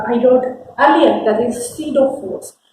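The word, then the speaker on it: pseudo: एज I wrote earlier that is सीडो force. यहाँ पर P silent है और स्यूडो फोर्स जो होता है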